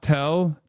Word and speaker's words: TEL: Teel is pronounced tell transporter erector launcher.